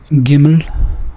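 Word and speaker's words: גימל: that in mind uh the next letter is giml or giml um don't worry about the how I pronounce the final l sound uh so uh let's call it gimmel and it makes a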